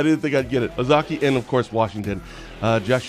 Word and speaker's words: Ozaukee: Is it Ozaukee? Nailed it. Really? I You knew didn't the whole time. I didn't think I'd get it. Ozaukee and, of course, Washington.